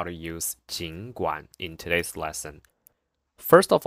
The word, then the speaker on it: 尽管: So we tend to say 尽管, but it's wrong because according to the dictionary, because dictionary is like more official, authoritative. So it says it should be the third tone. The pronunciation correct one should be 尽管, 尽管. So because there are two third tones in a row, you have to change the first one to second tone, which makes it become 尽管, 尽管. So 尽管 is the correct pronunciation.